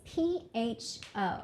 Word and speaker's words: pho: but you know look far yeah so like pho is basically like the most famous food in